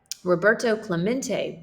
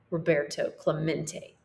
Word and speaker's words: Roberto Clemente: toe Clementi echoed in the near empty stance Roberto Clemente was his name and this is pronounced Roberto Clemente as if to introduce himself Roberto smacked the